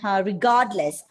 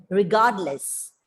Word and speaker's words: regardless: Like look at that word, regardless. Regardless. R is silent because D is coming after R.